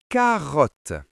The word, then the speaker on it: carotte: Carotte. Ici, les deux te se prononcent comme un seul te.